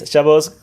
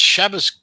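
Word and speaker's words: Shabbos: Shabos. Yeah. Okay. Yeah. It's Shabas What the is up with you Asians?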